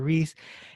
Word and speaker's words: Reese: Reese. And then eventually, when I said I'm going to do a podcast, I said, well, it rhymes with peace.